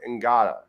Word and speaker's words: Ngata: Yeah, I mean, I thought is it Ngata or Nada? I don't know if you pronounce the G, but I thought it was Nada, but they were saying Ngata.